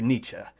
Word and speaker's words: Nietzsche: I don't want to give him a long E there. Anyway, in the sense of Nietzsche, the will to power.